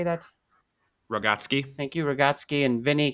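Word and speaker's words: Rogotzke: Rogotsky.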